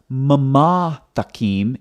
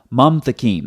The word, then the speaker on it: mamtakim: So it's not mamatakim, it's mamtakim. That's why when you look at the transliteration over here, it's one syllable, mam, not mama.